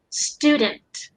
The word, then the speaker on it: student: you say it okay instead of uh that that gliding sound the skew there's no glide here so it was flat out student like how it's spelled isn't it like just